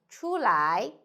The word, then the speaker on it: 出: One is 出来 another is 出去 So when you say 出来 can you tell me the speaker is inside or outside?